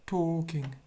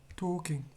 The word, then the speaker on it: talking: saw carl talking here here is a silent l so basically you wouldn't pronounce uh that you wouldn't pronounce that's it talking talking so the tell is